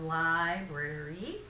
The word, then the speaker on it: library: has three syllables so we have library uh and again we're pushing the first syllable now my understanding is